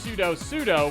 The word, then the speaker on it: sudo: I usually pronounce it sudo or sudo. Sudo is probably the most correct option.